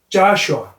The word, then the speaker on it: Joshua: 그리고 여호수아는 Joshua. 영어에서는 O에 액센트가 오면 아 발음이 나는 경향이 있었어요.